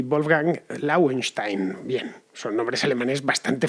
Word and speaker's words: Lauenstein: Los autores del corto, por cierto, que dices de la pronunciación en alemán, son Christoph y Wolfgang Lauenstein.